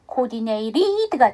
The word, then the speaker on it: coordinated: td로 끝난데 ed를 붙이게 되면 ed니까 coordinated죠. 근데 t 사운드가 모음과 모음 사이 끼니까 약화시켜서 coordinated가 되고요. 뒤에 보니까 워싱턴에서 w로 시작하기 때문에 d 발음을 안 하셔도 돼요.